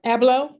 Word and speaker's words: Abloh: loss with the loss of virgil abloh um abello did i say it right abloh yes and um i'll be honest well first of all he he died at the age of 41.